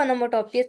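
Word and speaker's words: onomatopoeia: ओनोमोटोोपिया की प्रोनाउंसिएशन है ओनोमेटोपिया।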